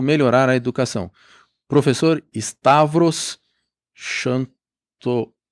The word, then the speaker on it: Xanthopoulos: Mas em grego é um pouco diferente, por causa do TH, né? Que é o teta. É Xanthopoulos. Xanthopoulos.